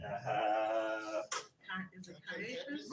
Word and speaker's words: Caiaphas: Is it Caiaphas? Right. Right. Have the way you pronounce it. Caiphas.